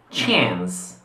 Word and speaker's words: chance: Anche se questa parola ha l'origine francese, noi la pronunciamo chance.